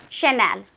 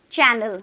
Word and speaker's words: Chanel: There, for example, let's take the name of a brand, Chanel. Chanel. If you are not confident enough, you might say channel or channel, like that. And that is how the fluency will break over there.